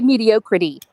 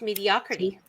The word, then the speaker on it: mediocrity: in my mediocrete mediocrity I say mediocrity it's mediocrity I like to put the wrong syllable on the emphasis greatest Stephen King movie